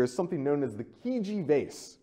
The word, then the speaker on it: Chigi: something known as the Chigi Vase, right? It's kind of a weird pronunciation. It doesn't look like it's spelled. That's the Italian pronunciation. This resides in Italy today. And the Chigi Vase dates to the 7th century BC.